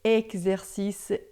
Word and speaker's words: exercice: Então, todas as vezes que você vê o X em francês, é sempre som de xi, tá? Então, expliquer, exercice, examen, texte, tá?